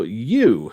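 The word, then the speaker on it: Yuu: story just a little bit players will follow you which is spelled y u u all she wants to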